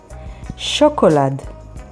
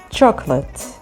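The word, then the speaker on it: שוקולד: Chocolate, which means, of course, chocolate, and it is spelled with shin, vav, kuf, vav, lamed, daled.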